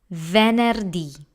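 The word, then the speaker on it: venerdì: D that's Java D next we have venerdi this word has again three syllables there ner D the soft e and the heart and rolling R plus the hard I that's venerdi now we have Sabaton this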